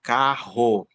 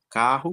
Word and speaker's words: carro: Carro, né? Mas a pronúncia é uma só.